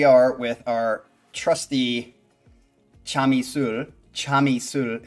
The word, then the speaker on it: Chamisul: Chamisul is how you say it, which is one of two popular brands of soju in Korea.